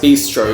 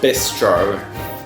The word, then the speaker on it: bistro: know just yeah and it's pronounced Bistro because it's Italian not this stroke moving on I actually